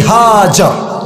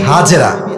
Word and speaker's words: হাজার: পারেন বইয়ের নাম বিবি হাজার নাম কি বলেন সবাই আমরা বলি বিবি হাজেরা এটা সঠিক উচ্চারণ না আরবি উচ্চারণ হচ্ছে বিবি হাজার তো উনি যখন তাদের